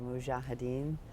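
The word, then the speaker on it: mujahideen: Um the Russians in Afghanistan, the and I won't say it right, the mujahedin, you said it right.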